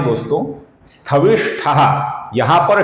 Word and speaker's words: स्थविष्ठः: कुछ लोग इसका उच्चारण स्थविष्ठः ऐसा करते हैं जो कि गलत है। इसका सही उच्चारण है स्थविष्ठः, स्थविष्ठः।